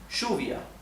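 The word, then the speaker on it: lluvia: Argentina and in Uruguay the word for rain which in Spanish is Juvia okay Juvia in Argentina and in ugu wise pronounced Shia Shia so if you ever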